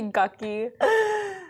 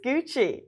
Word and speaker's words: Gucci: Like it's supposed to be gucky. There's no h in there. I I think it's Gucci.